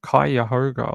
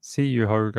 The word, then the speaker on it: Cuyahoga: I had to look up this word before the show because it has a U here, but it's actually like, it's sort of silent. They pronounce it Cuyahoga like that, not Cuyahoga or whatever this says.